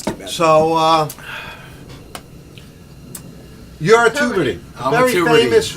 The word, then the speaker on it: Tubridy: So you're a Tubridy. I'm a Very Tubridy. famous Rockaway family. Yes, it's actually pronounced Tubridy, but I it's, know.